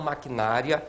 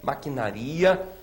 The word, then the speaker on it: maquinaria: Maquinaria e não maquinária. Maquinaria.